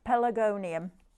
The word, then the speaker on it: Pelargonium: I have to do it in syllables first. Pelargonium.